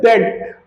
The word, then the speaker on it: debt: Because there is a silent B here. It's spelled as debt.